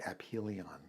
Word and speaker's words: aphelion: just use it uh she said actually it's pronounced apilion um I think it's it's an astronomical turn